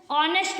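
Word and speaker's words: honest: जब हम इसको बोले जैसे हम ऑनेस्ट बोलते हैं नेस्ट नहीं बोलते क्या बोलते हैं ऑनेस्ट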